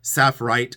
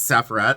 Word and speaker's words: saffre: one video I did I kept saying saff glass because I had another thing and it's saffr I'm like I've done